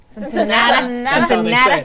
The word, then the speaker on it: Cincinnati: Cincinnati.